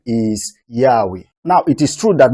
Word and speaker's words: Yahweh: to the view that the more correct way to pronounce the Divine name is Yahweh we chose the form